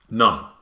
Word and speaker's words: none: the next one is none not as in holy person none as in not one none that's known isn't